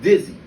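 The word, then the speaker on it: Didsie: dizzy a dizzy is spelt d-i-d-s-i-e but is pronounced dizzy the d.i.d stands for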